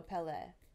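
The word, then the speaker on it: Pelé: So Pele. That's how Pele. I'm so bad at pronouncing things, anyways.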